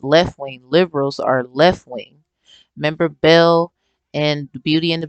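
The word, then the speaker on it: Baal: point now ball you b-a-a-l you would say but it's pronounced Bell and they actually and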